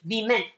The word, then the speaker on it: women: For woman, the plural has to be pronounced women.